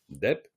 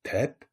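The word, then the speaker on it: དེབ: Après, je lui montre, je lui dis, ouais, bah, ça, quoi, cette lettre, Dep. Il me dit, mais c'est pas Dep, c'est Tep.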